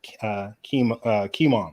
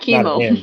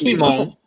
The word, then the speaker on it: Kimon: What were your thoughts on the 8 devils of Kimon? Excuse me if I pronounce that. It's probably with just the O. Not chemo. No, it's Kimon. It's Kimon. I kept saying chemo.